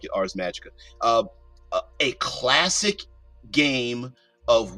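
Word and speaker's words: Ars Magica: Atlas games owns RS Magicka I've heard it pronounced ARS magic um maga maga but whatever the case may be I I like it ARS magika uh a classic game of wizards that has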